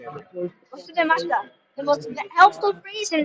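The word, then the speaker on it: 忘れました: Wasudemashita.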